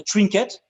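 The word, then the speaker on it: trinquet: walls it's a cranky so we will pronounce it a trinket so it's the place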